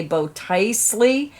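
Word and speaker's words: Botticelli: scarf project i am not sure how to pronounce it it's b o t t i c e l l i i'm gonna say bow tiesley it is an advanced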